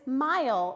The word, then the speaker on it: mile: The E is going to make the I say its name because we have a vowel, consonant, vowel. That word is mile or miles because it is plural.